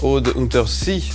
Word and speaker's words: Aude Untersee: Et mon invité ce matin, Aude Untersee. Je prononce juste ? Oui. J'ai prononcé juste.